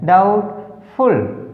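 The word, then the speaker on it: doubtful: DOUBT FUL डाउटफुल, डाउटफुल, तो B silent.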